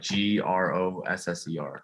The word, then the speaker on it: grosser: a grocer and a gr how do you spell that roaster like g-r-o-s-s-e-r okay yeah grosser and my official title would